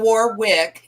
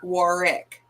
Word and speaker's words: Warwick: It's not Warwick. It's Warwick. It's with the second W is silent.